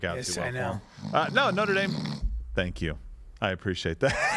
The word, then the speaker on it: Notre Dame: on how well and Order Dame is going to do this first of all it's pronounced Notre Dame uh I think Notre